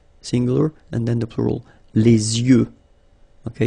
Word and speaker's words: les yeux: Okay, so l'œil, singular, and then the plural, Les yeux. Okay, you make this liaison between the two. Les yeux. Okay, final X not pronounced.